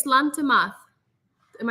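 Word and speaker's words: Sláinte: was it when we went to Ireland slanta slancha what is slant am I saying it right please tell me Scottish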